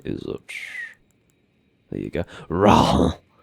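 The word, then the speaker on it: Rauh: Raw! Raw! There's just a really unnecessary H in there.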